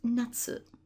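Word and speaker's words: 夏: that begins with this character here meaning summer pronounced Natsu Natsu and then here you have the break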